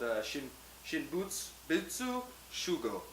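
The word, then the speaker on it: Shinbutsu-shūgō: It's actually called Shinbutsu Shugo. That's how you pronounce it.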